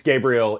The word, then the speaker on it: Gabriel: I mean, look, I I I work with people from all over the world and they uh they they pronounce it all sorts of ways, but uh it's Gabriel.